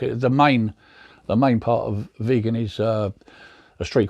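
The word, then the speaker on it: Vigan: It's a place called Vegan in Ilocos Sur. Vegan pronounced vegan.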